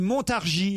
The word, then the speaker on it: Montargis: et d'ailleurs il dit on ne prononce pas le S on dit Montargis Laurent ils n'ont pas